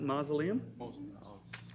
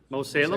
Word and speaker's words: Mosalem: Does anybody ever pronounce that mausoleum? Most people say Mosalem? Salem is where most of it. I want to say mausoleum, but Mosalem Township.